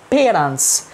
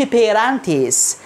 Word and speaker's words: parents: تاخد بالك من نطقها parents ما بقولش parentis parentis لا لا لا لازم تستخدم